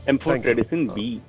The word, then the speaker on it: Amphotericin B: बिल्कुल बताता हूं, आपने बिल्कुल सही प्रोनाउंसिएशन किया है, एम्फोटेरिसिन बी बोलते हैं।